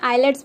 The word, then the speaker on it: IELTS: Exam के बारे में, जिसे आइलेट्स भी प्रोनाउंस किया जाता है बट इसका सही प्रोनाउंसिएशन आइल्स है।